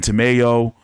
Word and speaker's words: Tamayo: Ruben Tamayo. You know, rhymes with tomato.